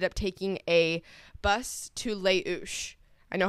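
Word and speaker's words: Les Houches: trail we ended up taking a bus to leou I know how to pronounce that one too it's pronounced it's called Le h o u c h e s and it sounds like hooches and that's what I was calling it which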